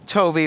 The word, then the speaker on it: Toby: It rhymes with Rowby. That's very true. Let's bring in Toby Horvath.